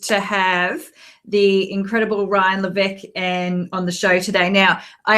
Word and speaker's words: Levesque: I am so stoked to have the incredible Ryan Levesque on the show today.